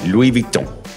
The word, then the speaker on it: Louis Vuitton: Louis Vuitton. Louis Vuitton. Yep. Louis Vuitton. Nice. So we got the correct pronunciation, basically. The S is silent. The N is quasi-silent because it's nasal, so it's Louis Vuitton.